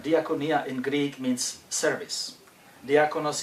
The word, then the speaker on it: diakonia: for the question it is a Greek word diakonia and you might know the word from the another Greek word which is dionos which we in English pronounce as deacon uh diaconia diaconia in Greek means service diaconos is a servant